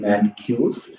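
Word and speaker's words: Mencius: We've got this person named Mancuse from 372 to 289 BC. It's a Chinese philosopher. The actual pronunciation is Mangzi. Mancuse is sort of the Latinized pronunciation of his name.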